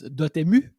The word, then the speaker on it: Dotemu: It depends on whoever says it, what language you speak. You might have noticed that francophone. So for us, it's Dotemu.